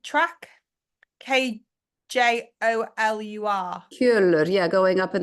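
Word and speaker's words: Kjölur: Steffi, just saw something about including the, how do I pronounce this? Kjolur track? Kjolur.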